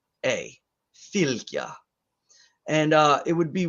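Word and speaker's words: fylgja: filter is f y l g j a filthya and uh it would be worth to note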